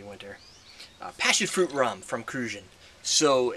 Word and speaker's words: Cruzan: passion fruit rum from kruan so in kruan I believe is the way you say it that's how they say it so I'm going to repeat what they do which is rare for